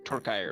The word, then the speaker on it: Torkire: Well, Torkire rhymes with fire.